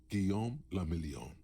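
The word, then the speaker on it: Guillaume Le Million: Gon Lamelon. If it doesn't rhyme, you're not pronouncing it right.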